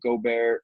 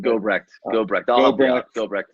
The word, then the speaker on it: Gobrecht: And then seeing guys like Eli Gobert, or I think I'm mispronouncing his name. Gobrecht.